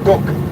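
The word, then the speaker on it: DUKW: you this vessel on this is called a duck it's spelled d u k w d d d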